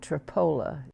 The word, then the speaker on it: Tripoli: English, and history in a little town called Tripoli, only they pronounced it Tripola.